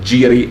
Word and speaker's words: gyri: the very structure of gyri and sulci or jiri and sulci if you want to use the latin or or k greek pronunciation and and the external